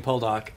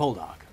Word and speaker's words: Poldark: You're supposed to say it with the emphasis on the second syllable, aren't you? It's supposed to be POLDARK, yeah. Isn't it? As opposed to POLDARK.